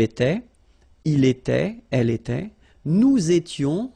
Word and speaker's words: nous étions: Nous étions, little liaison here to make it more beautiful.